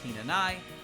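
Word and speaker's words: Hinanai: unused in modern Japanese in present day Japanese her last name is pronounced henai also another name meaning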